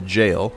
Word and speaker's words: gaol: ahead and head to the jail I love the fact that it's spelled gaol and then we'll go